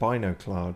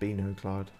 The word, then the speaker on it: MacLeod: Yeah, I went with MacLeod for a long time, but no, they pronounce it MacLeod.